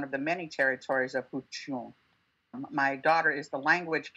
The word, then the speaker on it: Huichin: And for many years, I was saying it wrong, and I'm trying to recorrect it. But the entire Bay Area says it Huichin now.